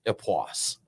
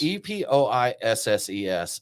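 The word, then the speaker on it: Époisses: That's what we told, but it's I'm told it's pronounced Epoisse. Yes. It's EPOISSES, and it's bringing the funk.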